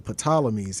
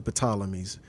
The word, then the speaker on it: Ptolemies: Now, Cleopatra was the last of the bloodline of the Ptolemies, and I know the P is silent, but I still call it the Ptolemies.